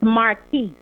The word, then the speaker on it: Marquise: what kind of person is it Marquise or Marquise? I don't want to mispronounce his name. So it's Marquise.